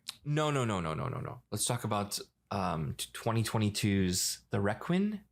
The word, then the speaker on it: Requin: Let's talk about 2022's The Requin. Is that how you pronounce it? The Requin. Yes, it's the French word for shark, right?